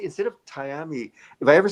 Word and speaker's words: Tiami: that because uh like I said uh it's pronounce it again for me. Love Tyami. Tyami. Tyami.